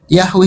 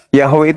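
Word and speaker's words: Yahweh: Yahwe itu cara membacanya mesianik. Mesianik yang bikin cara membaca YHWH.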